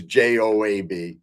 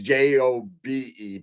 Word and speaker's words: Job: And Dr. Wong says job is pronounced Job, which is Jobe. So I guess I even spelt it wrong, Chris. I thought it was Joab. So it's Jobe.